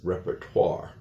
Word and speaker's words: repertoire: is not pronounced and if you have an o-i combination in French, it always has like a (wah) sound to it together with r becomes (twahr). So that's why we pronounce it as repertoire.